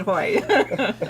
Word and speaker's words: Haughey: Yeah, the last name was, remember to pronounce it Haughey.